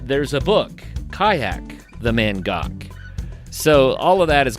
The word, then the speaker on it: Mangoky: People say the Mangaki cuz that's the way it's spelled, but the locals have corrected us. It's Mangok. That's what I learned from this among other things.